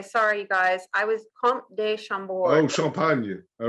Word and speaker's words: Comte de Chambord: Comte de Chambord. Yeah. Okay. Yeah. So you don't really pronounce the M. So it's Comte de Chambord. Well, it sounds like you're saying C-O-N-T. Almost, yeah.